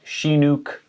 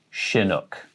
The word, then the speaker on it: chinook: of salmon is chinook salmon chinook so not shinuk chinook chinook salmon now here's a weird one if